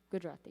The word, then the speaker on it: Gujarati: Do you say that they're Gujarati. Gujarati? Gujarati, yes. Gujarati. How do I do?